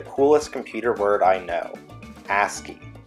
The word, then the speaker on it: ASCII: computer word I know ASCII rhymes with nasty that stands for American